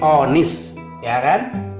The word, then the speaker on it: honest: lagi di sini rupanya honest boy oh boy bukan honest tapi on is even know his Boy